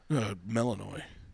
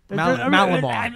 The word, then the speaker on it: Malinois: Melanoi. No. Melanoi? Is that how it's pronounced? Melanoma? No. Tim, you need melanoma. No, it's a... Malinois.